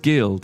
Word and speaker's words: guild: It's pronounced guild. Yeah, that's what I'm saying. Geld.